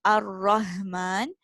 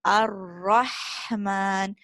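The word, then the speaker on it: الرحمن: It shouldn't sound like the deep throat ha. It's not Ar-Rahman, it's Ar-Rahman.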